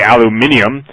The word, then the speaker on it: aluminium: submicron particulate barium aluminum aluminum or as the British say aluminium thorium and selenium were